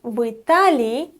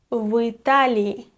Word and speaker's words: в Италии: Россия в России, Бельгия в Бельгии, but Италия в Италии, Испания в Испании. In such combinations, «и» turns into «ы».